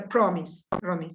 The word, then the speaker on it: promise: You have to say it's a promise, promise with the accent on the O, promise.